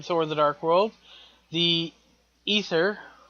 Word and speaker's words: Aether: Secondly, this new threat that was introduced in Thor the Dark World, the ether, pronounced ether spelled Ae T H E R if I'm not mistaken, uh is going to be a second one.